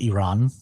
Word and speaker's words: Iran: It's actually pronounced Iran.